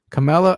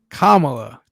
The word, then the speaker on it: Kamala: president of the united states oh kamala mm-hmm camilla what is it kamala yeah oh that's a good way to remember